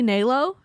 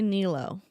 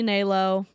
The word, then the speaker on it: Nélo: to become a panelist it is technically Nao they all say Neo it is supposed to be Nao the little curvy thing doesn't do anything for the pronunciation idolatrous thank you thank